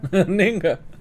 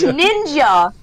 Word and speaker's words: ninja: Ninga. Did you say Ninga? That's kind of racist, but it's funny at the same time. No offense to any people. Ninga. It's ninja. That's how they freaking spell it.